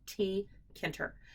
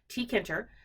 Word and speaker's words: Tkinter: for TK interface um depending on how you pronounce it you can call it TK inter you can call it tkinter you can call it inter I don't care it's all good but this is the